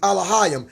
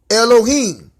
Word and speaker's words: Elohim: Elohim or Elohim. Elohim is the ancient Paleo Hebrew. Elohim is the modern day Hebrew.